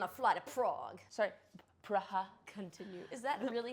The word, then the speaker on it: Praha: Sorry, Praha. Continue. Is that really how they pronounce it?